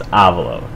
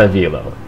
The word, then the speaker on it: Avalo: Just like Avalo, guys. It's Avalo. Not Avilo. He calls himself Avalo.